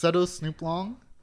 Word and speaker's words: Setosnooplong: it is pronounced Setosnooplong.